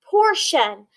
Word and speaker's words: portion: vowel sound or and this suffix tion that says shine so now let's go and let's sound this word out or poor shun portion a portion is like a